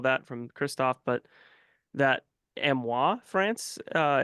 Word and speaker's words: Amiens: drawn and all that from Kristoff but that amoa France uh it's that's how you pronounce amen technically amoa France is a real